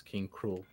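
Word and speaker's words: K. Rool: I watched it too they pronounce it I said of king k role as king cruel maybe they realized how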